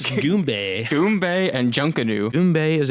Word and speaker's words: Goombay: I'm gonna Goomba. mispronounce. Goombay.